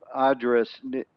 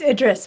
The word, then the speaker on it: Idris: uh dr address am i pronouncing your last name properly ma'am idris it's idris but it's fine either yes yes ma'am